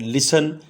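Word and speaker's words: listen: होना जरूरी है सेंट दरमियां में जब भी आएगा तो टी साइलेंट होता है ल आई एस टी आई एन लिसन स्मृति का लेटर साइलेंट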